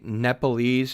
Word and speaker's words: Nepalese: pensions when i say when i say nepalese am i mispronouncing it no that's that's that's how i noticed that's how we say it in english anyway nepalese yeah yeah it's